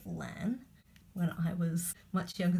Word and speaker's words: LAN: but I think that people do pronounce it LAN when I was much